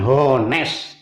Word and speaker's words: honest: Honest boy ini bacanya hanya nggak dibaca, bukan honest tapi honest, ya kan?